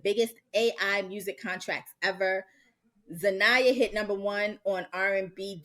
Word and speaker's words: Xania: Exania Manet. It's It's Zaniah. Zaniah, I believe.